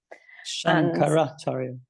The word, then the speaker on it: Shankara: and Shang shanaria am I saying that correctly shankara yeah Shankar yeah I always struggle with these pronunciations um but yeah lots of great ones